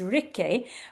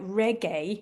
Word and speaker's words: Rikke: uh her name is Ricky which I think or it's or it's maybe pronounced a little bit more like Reggae which is very exciting.